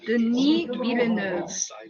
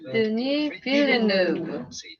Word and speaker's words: Denis Villeneuve: We are looking at how to pronounce with the typical French-Canadian French pronunciation. Villeneuve. Denis Villeneuve. Denis Villeneuve.